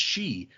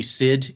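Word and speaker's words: sidhe: In fact, that may have come from me reading the Iron Druid books where I realized, "Oh, that word is pronounced she." I still say Sid in my head because that's what it looks like.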